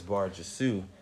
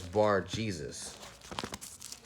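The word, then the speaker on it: Bar-Jesus: so his name is vargisu but when you look in here it's actually pronounced as bar Jesus and this is the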